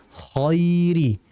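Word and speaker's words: الْخَيْرِ: Hati-hati dalam membaca huruf tebal yang dia berharakat fathah. Kita enggak boleh memonyongkan. Jadi jangan seperti ini. Wa innahu lihubbil khairiadid. Tidak boleh. yang betul khi khoai koiri yang bergerak itu adalah lidahnya untuk menebalkan huruf bukan dengan memonyongkan kedua bibir.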